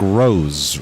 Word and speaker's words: Ross: spare let's see Yanik Ross pronounced like rose rose rose yep yep